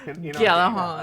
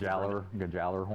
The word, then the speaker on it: Gjallarhorn: One of the most iconic weapons, one of the most debated pronunciations. I think we got it now. Gjallarhorn. I'm sure anybody I know from that. Europe would tell us that we're a bunch of fools, but a lot of times Gjallarhorn.